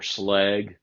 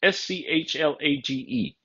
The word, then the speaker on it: Schlage: here in the U.S when I hear other locksmiths in the USA Schlage or slag or I've even heard locksmiths in locksmith classes say skeg for Schlage it is s-c-h-l-a-g-e Schlage so how it's pronounced